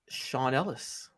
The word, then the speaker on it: Sean Ellis: It is Sean Ellis. Yes, it rhymes with Ron Dellis.